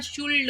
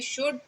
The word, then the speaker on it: should: दो भाई का नाम शुड और कुड, जिसको हमारे बहुत सारे बच्चे ना शुल्ड और कुल्ड बोलते हैं। तो शुल्ड और कुल्ड नहीं बोलना है, एल उसमें साइलेंट रहता है।